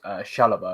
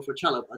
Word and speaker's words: Chalobah: Yeah, we're being linked with Chelsea's Chalobah, I believe is how you say his name, the English talent.